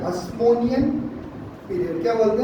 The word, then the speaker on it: Hasmonean: इस पीरियड को बोलते हैं हस्मोनियन पीरियड। क्या बोलते हैं? अब देखो नाम बहुत सारे हैं, स्पेलिंग बताऊंगा।